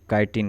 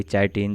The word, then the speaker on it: काइटिन: इसका वॉल बना होता है काइटिन का, जिसको प्रोनाउंसिएशन में कोई कोई चाइटिन, चिटिन भी बोल देता है, लेकिन अगर ओरिजिनल प्रोनाउंसिएशन देखें तो काइटिन होता है।